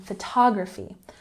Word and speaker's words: photography: And remember, this is different from photography. Photography has the emphasis on the second syllable.